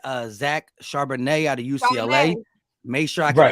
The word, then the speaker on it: Charbonnet: Chardonnay. Make sure I can pronounce his name right because y'all would kill me on like 3 videos ago.